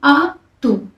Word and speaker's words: Atu: Cebu में इसको हम कहते हैं अतु, ATU, और इसे प्रोनाउंस करते हैं आ तू, AHTOO, तू, आ तू।